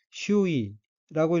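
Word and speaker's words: 周囲: 다음 어휘는 한자가 주위이고 각기 두루주, 둘레위 자이고 일본어로는 슈이라고 읽으며 슈이는 주위, 주위의 사물, 사람들 이란 뜻의 명사입니다.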